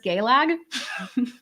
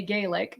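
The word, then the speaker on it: Gaeilge: Like, so it's actually, just so you know, Gaelic is pronounced as Gaelag. I mean, literally, an Irish person that I know very well doesn't say Gaelic. They say I speak Gaelag.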